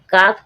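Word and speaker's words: calf: यह नियम देखें कि एल के बाद जो अपना एल है एल के बाद जब के आए या एफ आए जब एल साइलेंट रहेगा। एल क्या रहेगा? एल साइलेंट रहेगा। इसका कोई साउंड नहीं रहेगा।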